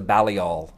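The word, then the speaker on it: Balliol: christopher christopher hitchens yeah and it was the bally all is that how you pronounce it from oxford yes and and it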